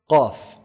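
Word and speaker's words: قاف: Qaf. Qaf is pronounced from the deepest part of the tongue. So the closest to the throat, the farthest from the mouth.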